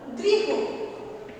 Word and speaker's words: গৃহ: কেমন সেটা দেখো, যেমন ধরো গৃহ, গয়ে রি হ। শব্দের শেষে কি আছে না হ। এখানে কিন্তু হয়ে অসন্ত এভাবে উচ্চারণ হয় না, এখানে কিন্তু হয়ে অসন্ত যুক্ত অ অর্থাৎ হ এই উচ্চারণটাই হয়। অর্থাৎ এখানে যে অটা রয়েছে অয়ের উচ্চারণটা বজায় থাকে।